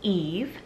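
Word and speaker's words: Yves: For the letter Y, I have the name Eve, so spelled Y-V-E-S. Very similar to E-V-E for a girl, but I've also seen a lot of girls spelling Eve this way.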